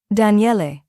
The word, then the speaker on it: Daniele: Daniele. He pronounced it carefully, all 3 syllables distinct.